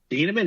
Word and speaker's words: Thieneman: Thieneman, is that how you say it? Yeah. Thieneman, yeah.